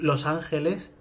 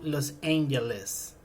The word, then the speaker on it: Los Angeles: en español, bueno, pues tenemos que leerlo con la pronunciación en inglés, es decir, no podemos decir from Los Ángeles, sino que nos tenemos